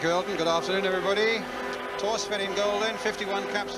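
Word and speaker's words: Thorstvedt: Torsvin in goal then, 51 caps for Norway. You don't pronounce the H in his name, incidentally.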